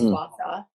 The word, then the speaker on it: gua sha: And then one of the best things is just either jade rolling or gua sha, pronounced gua sha.